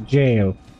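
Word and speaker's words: Gaol: or the jail sorry I keep calling it The Gil I know that it's um supposed to be pronounced a jail let's just check down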